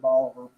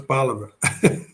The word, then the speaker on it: Bolivar: 14 years here at Bolivar. And I've been mispronouncing it, huh? It's Bolivar.